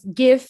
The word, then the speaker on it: GIF: And the last thing, it's I think the correct pronunciation of GIF is GIF, not GIF.